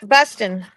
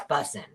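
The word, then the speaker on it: bussin: And you kind of have to say it like busing. Like, no, I'm not saying it right. Oh, it's busing.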